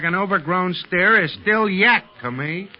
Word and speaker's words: yak: But Tibetans drop the final K. It's spelled yak and pronounced yak.